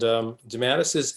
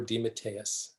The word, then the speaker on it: DeMatteis: And DeMatteis is an acceptable pronunciation, but I prefer DeMatteis. DeMatteis. Yeah, Okay. which is Okay. the authentic Italian pronunciation, which some years ago